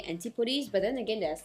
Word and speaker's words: Antipodes: To be honest, previously I really don't know how to pronounce this name, Antipodes or Antipodes.